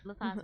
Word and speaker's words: Latha: We're here very excited in the studio to be with Latha. I keep saying it wrong, but Latha's right.